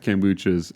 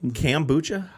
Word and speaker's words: kombucha: Do you say kambucha? I probably say it wrong. Yeah. Okay. I'm just curious. Kombuchas, I think is the correct Okay. Just civilized way of saying it.